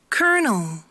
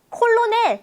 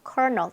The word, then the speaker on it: colonel: Everybody says 콜로넬 이럽니다. 콜로넬 뭐예요? Colonel. 어디서 갑자기 튀어나온 R 발음인지는 모르겠으나 Colonel입니다. 콜로넬 아니고 Colonel 대령이란 뜻이죠.